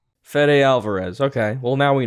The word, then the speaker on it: Fede: It is Fede. Yeah, let's go with Fede. I figured. That sounds right. Fede Alvarez.